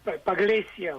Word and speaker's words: Pagliccia: Is that the right pronunciation, of your last name? Well, Pagliaccia would be okay.